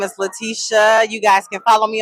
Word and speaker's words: Laticia: Hey y'all, it is the Pull Up Experience Hey everybody, my name is Letitia. You guys can follow me on Instagram at. Letitia is spelled LATICIA_Pittman.